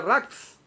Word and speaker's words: raz: Así que la palabra misterio en arameo originalmente es raz. Arameo se pronuncia rax, R-A-W-Z. ¿Sí lo dije bien? Rax, con Z.